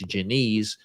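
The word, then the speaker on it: Diniz: taking on janata Janise I don't know why it's Janise when there's a d there but that's how they say it the black beast der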